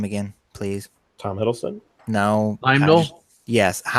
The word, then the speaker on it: Heimdall: Heimdall?